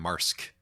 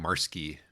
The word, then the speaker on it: Wilde: I believe I said Wilde-ski when we did the last book that we did by this author, which is at least according to the way the audiobook narrator pronounced it, not correct.